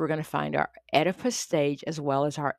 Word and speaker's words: Oedipus: our Oedipus stage, and I know it does start with a O, but it's pronounced E. That's where we're going to find our Oedipus stage as well as our Electra stage.